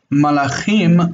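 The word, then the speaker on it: מלאכים: When you make the plural, the im ending is the plural, im. Malach is angel. Malachim, malachim.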